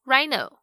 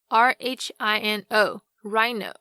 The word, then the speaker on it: rhino: 荣誉，跟 heir 继承人，这些都是以 H 开头但是不发音的例子。那另外如果像是 RH 开头的话，这个 H 也是不发音哦，像是动物园里面的犀牛 Rhino 就是一个活生生的例子， R-H-I-N-O Rhino。